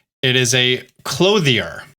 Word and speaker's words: Clothier: I've now also learned that it's not pronounced clother. It is a clothier.